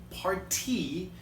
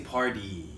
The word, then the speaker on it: party: When I pronounce this, I don't say party, I say party. So it almost sounds like a D.